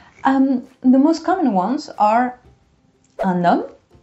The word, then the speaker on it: un homme: most common ones are un homme. Remember the H, it doesn't really exist in French. So un homme, la liaison, tu fais la liaison.